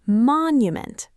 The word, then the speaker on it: monument: It's monument. The stress is on the first part. Monument.